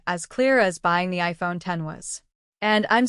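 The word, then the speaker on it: iPhone X: Again, the iPhone 10, pronounced 10, launched alongside the iPhone 8 and 8 Plus.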